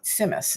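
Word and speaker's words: tzimmes: It's pronounced Simus.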